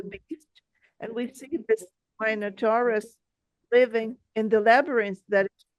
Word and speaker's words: Minotaur: residents of Athens send their sacrifice to the Minotaurus.